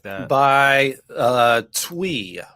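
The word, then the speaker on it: Thuy: like that by uh twee right there i know it looks like it's t-h-u-y but it's actually pronounced twee and thankfully the artist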